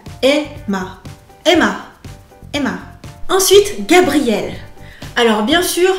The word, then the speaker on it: Gabriel: Alors, bien sûr, le R de Gabriel ne va pas apparaître comme un R en japonais. Du coup, ce sera entre le L, le R et pour moi le D. Gabriel, donc cinq syllabes.